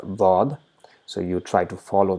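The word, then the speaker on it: ضاد: Because the tongue is touching the side of the teeth, it produces very slight buzzing Z sound.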